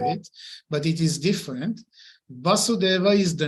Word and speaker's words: Vasudeva: Why is he called Vasudeva? Primarily because he is the son of Vasudeva. In Sanskrit, there are, well, how to say it? I would say it this way. Vasudeva with short va.